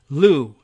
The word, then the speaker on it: Lu: Lu. And it's pronounced, it's spelled L-O-U, like Lou, like short for Lewis.